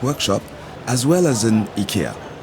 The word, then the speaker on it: IKEA: as well as an IKEA. Yeah, that's how we pronounce it in French, and I guess in Swedish too.